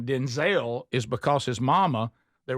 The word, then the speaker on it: Denzel: Denzel, he said, "But my mother, we had so many people in the family named named Denzel. She got tired of me not knowing if she was talking to me." She said, "From this day forward, you're Denzel." And she changed it. You you hear the difference the way the way she says it.